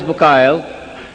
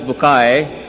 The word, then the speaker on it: Bucaille: scientist and a scholar of quran dr maurice bukhail pronounced as maurice bukai am i right doctor doesn't matter okay uh